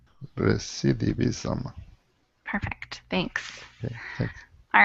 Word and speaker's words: recidivism: thank you yeah that's a tough one it's pronounced recidivism recidivism recidivism perfect thanks all right so this is an